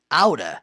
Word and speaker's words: out of: Então, out of, falando rápido, pode ser pronunciado out of ou aura.